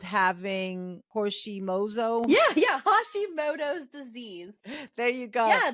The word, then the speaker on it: Hashimoto: it like that's the hori how do you pronounce that again I'm sorry Hashimoto Hashimoto right so that whole deal has to do